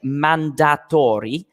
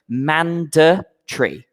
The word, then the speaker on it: mandatory: We don't say mandatory, okay? It's not phonetic, mandatory, okay? We say mandatory, okay?